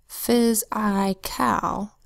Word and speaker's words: physical: So you could say to spell phys-I-cal, and then when you read it out loud, say physical. Next word, physics. First syllable, so the same as physical, it's P-H-Y-S, phys.